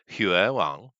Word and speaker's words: Huion: It's a Chinese product, and the English is written as Huion, but it's actually Huiwang. Okay. Yeah, that's what I mean. Yeah, it's not pronounced how it's like.